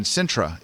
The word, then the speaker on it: Sintra: in Lisbon but right next right nearby in sintra is it mice pronouncing that right yes exactly you are pronouncing